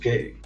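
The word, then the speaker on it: γῆ: But according to the Greek lexicon based on the Thayer's and Smith's Bible dictionary, plus others, this word J-E, gamma, pronounced gay, means 1.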